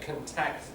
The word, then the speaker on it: contact: This one breaks that pattern. So contact verb contact noun both have what we call front stress first syllable.